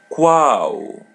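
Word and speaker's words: qual: Quo. Repeat part after part. Cool. Wow. Cool. Wow. Wow. Wow. As you see her L in the end is pronounced as W.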